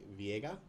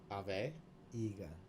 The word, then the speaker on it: Aveiga: And I'm going to butcher your last name, so I'm going to say Viega? A Aviega. Ave Ave? Iga. Aveiga. Okay. Aveiga, yeah.